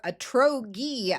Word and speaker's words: Atrogi: That's where Atrogi, or Atrogi as some pronounce it, a clinical stage Swedish biotech company, comes in.